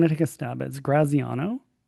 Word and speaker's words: Graziano: Um your last name to me seems straightforward, but I'm going to take a stab as Graziano.